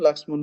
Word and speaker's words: লক্ষ্মণ: আর সংস্কৃতে বা হিন্দিতে যে উচ্চারণটা সেটা সেখানে লক্ষণ বলে না, হ্যাঁ সেখানে লক্ষ্মণ বলে। সেখানে যে ক্ষীয়র উচ্চারণ ক আর স, সেই উচ্চারণও কিন্তু করে, আমরা সেটা বাংলা করি না।